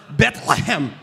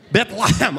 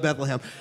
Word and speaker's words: Bethlehem: We learned week one, it is pronounced Bethlehem. Bethlehem. On three, let's all say Bethlehem. One, two, three, Bethlehem. That's how they say it over there in Israel, but you can get by with Bethlehem.